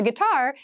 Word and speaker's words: guitar: of an interesting spelling it starts with GUI but we pronounce this as git so a guitar is a musical instrument